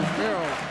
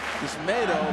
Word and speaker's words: Yusmeiro: Everybody's been calling him Yusmeiro. It's Yusmeiro, like tomato. He made it real clear to us. That's how you say his name properly.